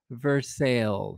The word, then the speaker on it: Versailles: but uh you can say it with me versailles it's not versaille it's versailles we also have a by the way just